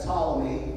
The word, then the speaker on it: Ptolemy: south, in Egypt, you had Ptolemy, that's a silent P as in Smith, and you also had